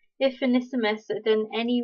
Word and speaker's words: Onesimus: this passage it mentions another guy, which is Onesimus.